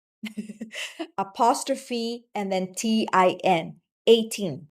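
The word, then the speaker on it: A'TIN: apostrophe, and then TIN, 18. So it's pronounced as 18 or the number 18, symbolizing that fans complete SB19, or that there will be no 19 for SB19 without 18, right?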